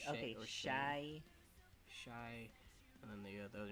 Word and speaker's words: Chai: So how do you pronounce it? So her first name, Chai T? Shy T. Okay, Shy.